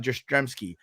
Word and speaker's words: Jastremski: is dremski and he'll say my name is drostremski like karl yestremski but with a j so we go okay